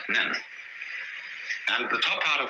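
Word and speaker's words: 念: This is pronounced nyan, in Japanese nen.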